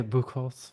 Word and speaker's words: Buchholz: I'm Buckles is kind of how the Americans say it, but the Germans say bhul, but it it, you know, depends on who you're talking to.